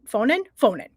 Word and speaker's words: Faughnan: Faughnan is my understanding of how you pronounce it.